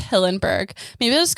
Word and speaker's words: Hillenberg: actually against hildenberg's hilton i keep wanting to call him hildenberg's his name is hillenberg maybe i'll just call